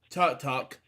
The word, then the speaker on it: Tudyk: Alan Tudyk, how to pronounce it, as Tut-Tuck.